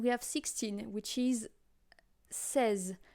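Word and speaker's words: seize: have 16 which is says like a seizure you know but instead of going C you go say says got it let's go with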